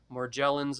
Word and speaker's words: Morgellons: had all three epstein-barr more gel ins as we talked about and that is the correct pronunciation like Magellan more gel ins more